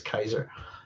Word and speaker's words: Caesar: I always pronounce it, I know everybody says Caesar, but it is Kaiser. I always pronounce it as a K.